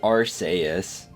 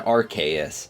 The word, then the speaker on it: Arceus: but however were banned arceus pronunciation changed while the japanese pronunciation may be arseis the english one was changed to rks as the japanese one sounded like the word arse to this day it's